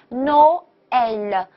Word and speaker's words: Noël: 音要往下沉一下啊，Noël。